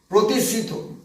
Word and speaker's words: প্রতিসৃত: প্রতিসৃত বানানটা উচ্চারণ হচ্ছে প্রতিসৃত, এই রশ্মিটাকে বলে প্রতিসৃত রশ্মি।